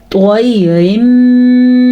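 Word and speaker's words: طير: طَيْرٍ مِّمَّا طوا کو ہم نے پر پڑھا کیونکہ طوا حروف مستعلیہ میں سے ہے.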